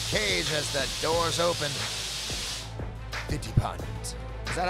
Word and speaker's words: ทิติพันธ์: Titipan. Is that how you say it, Mark? Give it to me again. Titipan.